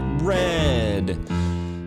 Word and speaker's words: read: I see you there and your looks I wanna read, but I spelled it R-E-A-D, pronounced it red.